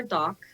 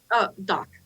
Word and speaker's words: Dak: And sorry, and I was thinking about calling her Doc, but it's spelled D-A-K because she is from Great Britain originally.